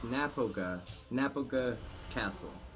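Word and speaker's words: Knappogue Castle: Alright, the plot hole before we get to you, Jared, just to correct myself on the pronunciation, it's Napoga Castle is the name of the whiskey.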